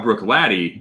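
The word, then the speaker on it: Bruichladdich: kind of like how brook laddie lost the guttural at the end like brooklynic i don't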